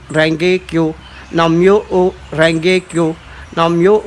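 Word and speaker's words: Nam Myoho Renge Kyo: Ce mantra, ça se dit Nam Myo O Renge Kyo. Alors ça s'écrit N-A-M, Nam.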